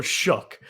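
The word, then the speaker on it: Shough: So, not a huge investment, but Tyler, I think his name is SA is how you say it. So, shook.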